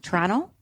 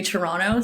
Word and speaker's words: Toronto: to say it wrong Toronto Toronto yeah Toronto okay do I say the two T's you know it said that if you're from Toronto you don't say the second te you just say Toronto so you're saying it